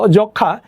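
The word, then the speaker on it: যক্ষ্মা: কিরকম দেখো, যক্ষা, যক্ষার এখানে যুক্তক্ষর নিজে একটা যুক্ত ব্যঞ্জন, তার সাথে আমার ম এখানে ফলা রূপে আছে, তাহলে এই মফলার কোনো উচ্চারণ হয় না।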